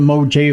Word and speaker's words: Mojave: Yes, it's the Mojave, like Mojangles.